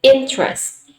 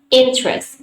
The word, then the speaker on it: interest: is not interest but interest interest two syllables okay mostly indonesian students uh pronounce interest as interest okay as three syllables but american speakers do not pronounce this word in three syllables that they only pronounce